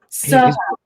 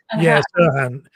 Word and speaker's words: Serhant: Serhant. Serhant. Name. Serhant.